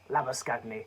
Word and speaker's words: Labuschagne: Labuschagne's been good. Short Steve Smith hasn't been the same since. Let's respect his South African roots. Labuschagne.